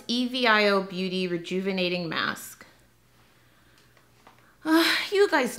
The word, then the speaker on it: Evio: It's Evio Beauty Rejuvenating Mask.